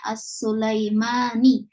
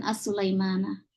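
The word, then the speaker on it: السليماني: Ya, maka di sini apabila As-Sulaiman di sini miliknya atau sifatnya Ibrahim, maka bacanya As-Sulaimani, bukan As-Sulaimana.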